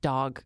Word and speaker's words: Dogue: It's called Dog because it's a restaurant for dogs, but it's spelled Dogue because it's fancy.